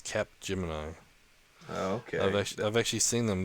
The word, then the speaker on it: Capgemini: Oh, I was trying to put it mini, like Cage Mini or something. No. It's got a P in it, so it's Capgemini.